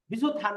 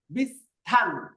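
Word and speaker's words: 비슷한: ক্রুসিভ বিস্থান দান এখানে অনেকে এটাকে বলে বিছু সাবধান বিসুত হান পড়বেন না আমাদের নিয়ম কি সিউতের পরে হিউত হইলে এখানে এই দুইটা মিলে উচ্চারণ হবে থিউত থিউত তাইলে উচ্চারণ হবে বিসহান বিস্থান উচ্চারণ কি হবে বিস্থান দানুল কোন শিষ্য বিস্থান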